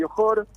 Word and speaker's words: Johor: del Johor, no sé si es Johor o Johor, ¿cómo se pronuncia?